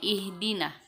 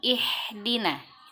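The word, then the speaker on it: اهدنا: adalah huruf H besar maka baca dia ihdina ihdina ha yang berasal dari tenggorokan bagian bawah pun ihdina juga karena itu berasal dari dada terlalu besar kita bacanya ihdina dan jangan ihdina telah kecil selanjutnya yang diperhatikan lagi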